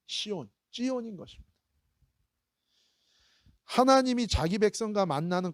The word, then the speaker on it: 시온: 시온이기 때문에 그래요. 시온. 이 히브리어로는 사실은 시온이 아니라 이 발음이 뭐냐면 찌온입니다. 찌온. 다 같이 찌온. 시작. 찌온. 이게 원래 맞는 발음이에요.